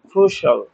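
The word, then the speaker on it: crucial: আমরা শিয়াল করি এগুললা শিয়াল হবে না এগুলার উচ্চারণ সল ফিনান্সল এসেন্সল ক্রুশল এরকম এটা খুব কমন মিস্টেক আমাদের উচ্চারণত আমরা ফিনান্সিয়াল বলি, এসেনশিয়াল বলি, ক্রুশিয়াল বলি।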